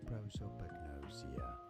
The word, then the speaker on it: prosopagnosia: In British English, it is normally pronounced as prosopagnosia.